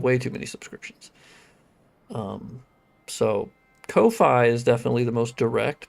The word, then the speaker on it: Ko-fi: The quickest way is technically the Ko-Fi donations, or coffee, I suppose is how they say it, because that goes straight to my PayPal, which means I can use it immediately.